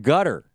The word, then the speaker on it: Qatar: the New York Times about gutter which is spelled like Qatar gutter support of islamists